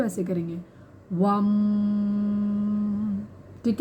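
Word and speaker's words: वं: और इसका जो उच्चारण है वो है VAM, वम। तो इसका हम उच्चारण जब करेंगे तो ऐसे करेंगे, वम, ठीक है।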